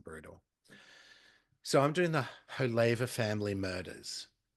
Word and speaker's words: Haver: So, I'm doing the Hava family murders. It's spelled Haver Wh. But they pronounce it Hava.